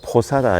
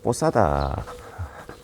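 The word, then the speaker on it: posada: 라고 되어 있죠 예 우리나라 분들의 이제 피를 영어 주로 발음을 해서 포사다 에게 하는데 어 스페인 발음으로는 뽀 싸다 라고 합니다 어 여기는 이제 문을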